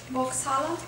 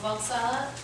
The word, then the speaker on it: Volkshalle: Vauxhall. Oh, Volkshalle.